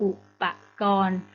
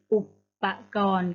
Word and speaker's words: อุปกรณ์: เครื่อง มือ คำ ว่า อุปกรณ์ อ่าน ได้ 2 แบบ นะ คะ อ่าน ว่า กู อุปกรณ์ หรือ อุปกรณ์ ก็ ได้ ค่ะ โป้ นัก เรียน อย่า